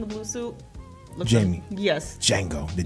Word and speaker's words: Django: Yeah, it's Django. The J feet. Yeah. Cape Radiant ass name. Give him a whole new name and everything. Yeah, his name is Django. The D is silent.